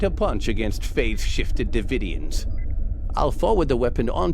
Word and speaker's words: Devidians: have to be ready to fight devidians that's how you pronounce it good okay Captain we